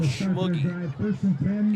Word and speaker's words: Schmoogie: Seminary, coached by Carl Schmoogie. He says, yeah, it rhymes with boogie.